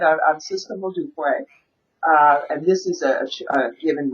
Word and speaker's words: Modupe: Oh, and I should say for the audience, let's tell the audience your full name, which is Oh, uh, Sistah Modupe.